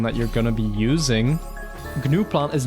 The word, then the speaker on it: gnuplot: Okay, it's pronounced GNUplot, okay. GNUplot is funnier.